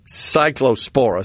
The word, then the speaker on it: Cyclospora: Okay, Cyclospora. So I had the accent in the wrong place, which that's one of those.